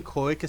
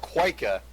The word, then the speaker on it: cloaca: You mean cloaca starts with a C? It's not quika, it's cloaca.